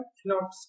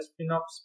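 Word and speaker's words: Sphinx: फिनॉक्स कहा जाता है। ठीक है, फिनॉक्स। यहाँ पर जो है एस साइलेंट करके भी बोल सकते हैं या नहीं तो स्पिनॉक्स भी बोल सकते हैं, कोई दिक्कत नहीं, जैसा प्रोनाउंसिएशन आपका हो कर सकते हैं।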